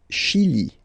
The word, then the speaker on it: Chili: Le Chili. Le Chili. Okay, remember, C-H, sh.